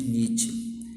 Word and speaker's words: Nietzsche: Se pronuncia Nietzsche, tá bom?